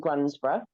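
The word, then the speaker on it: Grundisburgh: So I do travel around, but I'm based at the Barn Fitness in Grunsborough. So it's spelled Grundisburg.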